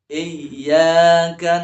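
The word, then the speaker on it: إِيَّاكَ: Kemudian Iyyaka na'budu wa iyyaka nasta'in. Itu harus ada, jangan dibaca iyyaka na'budu wa iyyaka nasta'in.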